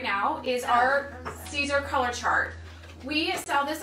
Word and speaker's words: Siser: Siser.